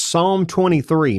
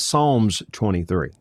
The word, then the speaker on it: Psalm: It's the book of Psalms, but it's individual psalm, an individual psalm. So it's Psalm 23, not Psalms 23.